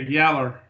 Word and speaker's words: yellow: We pronounce it down here yaller.